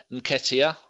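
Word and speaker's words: Nketiah: what I'll bring on 18 year old Eddie and Katia I've said that right people off the four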